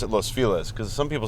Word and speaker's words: Los Feliz: and so we're like being East Hollywood I pronounce it Los Feliz because some people say Los Feliz well it's Los Feliz which means the happy one yes boy yeah